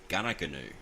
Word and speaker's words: Goonoo: It's the New England Highway, but it's spelt Goonoo Road. So G-O-O-N-O-O, G-O-O-N-O-O. However pronounced, Gunnagoonoo.